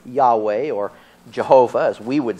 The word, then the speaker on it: Yahweh: But according to Unger, the strong possibility is that the name Jehovah was anciently pronounced Yahweh.